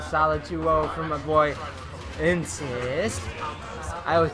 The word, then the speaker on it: NScyte: Even though his name is NScyte. But I insist that he pronounces it Insist.